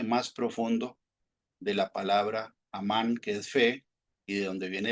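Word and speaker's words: אָמַן: En hebreo viene de la raíz de la H539 que se pronuncia amán.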